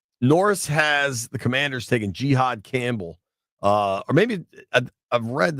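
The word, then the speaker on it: Jihaad: Norris has the Commanders taking Jihad Campbell, or maybe I've read that I think they want it pronounced Jihad instead of Jihad, which has a different connotation, certainly.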